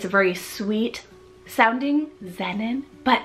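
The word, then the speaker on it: Xennon: in general now time for X we have Xenon spell x-e-n-n-o-n Xenon now this one means gift it's very sweet sounding Xenon but it's so futuristic so futuristic especially with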